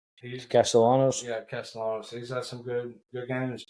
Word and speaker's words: Castellanos: Tommy Castagnolo, or however you pronounce his name. Castellanos? Yeah, Castellanos.